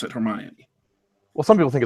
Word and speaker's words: Hermione: That's the Greek pronunciation of the character from mythology of that name.